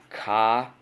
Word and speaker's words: chameleon: Coming back over here, ch, k, sh. It is the second sound.